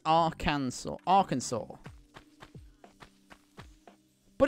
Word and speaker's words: Arkansas: it with a jump ah well that'd be our kansas freezing over not hell also why is our